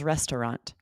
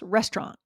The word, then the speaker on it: restaurant: Aubrey, what would be the first way that you like you sometimes say? What's that? Sometimes with three syllables. Restaurant. Restaurant. So it's awah in the middle. Restaurant. And and uh with two syllables. Restaurant. Restaurant. Okay. So we're really skipping the sound entirely. Restaurant. Exactly. eliminating that second syllable, making it two syllables.